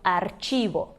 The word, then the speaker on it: archivo: Bom, se diz archivo, então às vezes as pessoas pensam arquivo, não pensa na hora que é archivo, só que o CH em espanhol tem esse som de ch, então archivo.